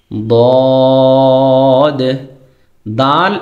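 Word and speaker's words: ضاد: দাল জবর সাইন দিয়ে পড়লে দাল জবর দা আ সাউন্ড দিয়ে উচ্চারণ করতে হয়। দদ জবর দ। সুতরাং আমরা যখন কোরআন তেলাওয়াত করবো তখন আমাদের খেয়াল রাখতে হবে আমরা যেন দদকে দাল না বলি। আর দালকে দদ না বলি।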